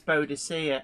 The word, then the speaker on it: Boadicea: But yeah, to me, it's always Boadicea. It's like, I'm sorry, I learnt that pronunciation with great effort at school, and I'm not changing it.